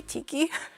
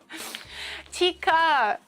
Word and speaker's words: tikka: Wait, did I say tiki? Tikka. Did I say tikki? Tikka.